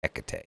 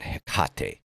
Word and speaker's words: Hecate: it's not teate right that is a Spanish pronunciation like teate beer right it's Hecate uh not heate anyway um so it it's it's just again